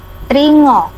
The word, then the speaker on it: tringa: Kalau Tringo, NGA, tulisannya NGA Pak yang E, tringo. Membacanya ngo ya, ngo, tapi menulisnya tringa, pakainya nga, tringo.